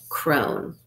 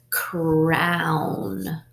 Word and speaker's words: crown: Crone, crone. That doesn't sound right. Let's try ow. Ready? Crown, crown.